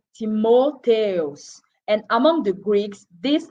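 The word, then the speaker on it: Τιμόθεος: Its name in Greek is pronounced Timotheus.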